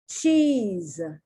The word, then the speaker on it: cheese: is not pronounced t the s is not pronounced like an s the s in english has two sounds it's a consonant but